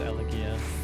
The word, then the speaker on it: Elegia: It is Elegia. It's Elegia? Okay. Philadelphia, that's right. It's actually pronounced Philadelphia.